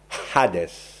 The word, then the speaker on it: Hadès: dieu règne sur ces âmes il s'appelle hadès hadès j'insiste je le prononce à des ch on vous signalant que